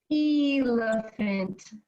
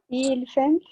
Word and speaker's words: elephant: see we say elephant is that El elephant or elepant elephant we don't it how do